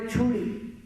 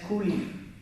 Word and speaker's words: Chuli: There was a great sage called Chuli. In our last Ramayana recital, I pronounced him as Kuli, because I didn't have the Telugu book or any Sanskrit book that had the Devanagari lipi.